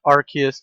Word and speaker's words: Arceus: like with a lot of Pokemon you have Arceus Arceus and RK is I don't know who says our kids